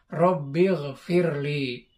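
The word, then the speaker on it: رب اغفر لي: Ya, itu aslinya ighfir. Tapi karena bacanya disambung, jadi Rabbighfirli.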